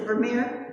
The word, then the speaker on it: Vermeer: Vermeer, how do you pronounce it? Is it Vermeer?